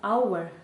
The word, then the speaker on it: hour: ми букви «h» не кажемо, ми кажемо просто «hour» - наша вимова починається із голосного звуку.